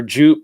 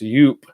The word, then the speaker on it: Joop: the ladies you are Joop it's actually pronounced youp he's done Wow and